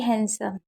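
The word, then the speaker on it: handsome: ही is very हैंडसम। अब देखिए यहाँ पर डी साइलेंट रहता है।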